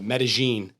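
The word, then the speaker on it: Medellín: there uh when you when you read the word uh it looks like median but it's uh Medellin is how it is pronounced so we spent a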